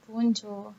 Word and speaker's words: bonjour: Bonjour. It's not bonjour. They don't pronounce J as But J isn't as it J. like bonjour is Bonjour.